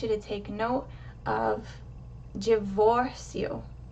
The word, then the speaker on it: divórcio: The O in the middle of that word has the accent, and it's pronounced higher. Your mouth is more open. Divórcio. So the O is given the emphasis, and you want to reduce the volume, reduce the strength of the pronunciation for the last part of the word.